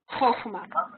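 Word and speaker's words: חכמה: mot, et on s'habitue à dire, par exemple, Chochma.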